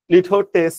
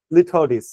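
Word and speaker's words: litotes: বুঝানোর বাইরে হ্যাঁ তারপর লিথডিস লিথটেস না লিথডিস লিথডিস উচ্চারণটা এরকম যে লিথডিস লিথডিস কি এটা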